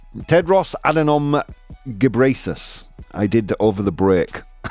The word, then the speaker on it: Tedros Adhanom Ghebreyesus: I did download a video to figure out how to pronounce it. Tedros Adhanom Ghebreyesus.